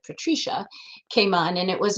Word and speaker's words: Patricia: in the diner, and this song Patricia, although my family pronounced it Patricia, came on, and it was a song by Perry Como, who was a crooner that my mother loved.